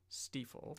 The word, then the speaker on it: Stifel: You always pronounce the second letter. Okay. I know that because Ziemann, Z-I-E, pronounce the second letter. Oh, there you go. I-E, so it would be Stiefel.